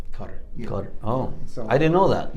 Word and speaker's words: Qatar: tour in in qatar we say qatar but it's actually pronounced cutter cutter oh i didn't know